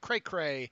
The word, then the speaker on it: Krakra: By the way, Dave, my last name is phonetically pronounced, and Krakra is pronounced cray-cray and short for crazy.